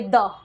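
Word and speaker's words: the: क्या द लिखेंगे द बहुत से बच्चे धा पढ़ते हैं धा नहीं पढ़ना होता इसको दी पढ़ सकते हैं आप देखिए इसको द पढ़ सकते हैं इसको दी पढ़ सकते हैं आपको जो सही लगे आप वो पढ़ेंगे आपका कोई गलत नहीं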